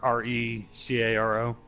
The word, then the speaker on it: Recaro: Or is it Recaro? Okay. I don't know how you pronounce it. Yeah, R-E-C-A-R-O.